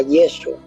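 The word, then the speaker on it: ישוע: Después del cautiverio se pronunciaba Yeshua.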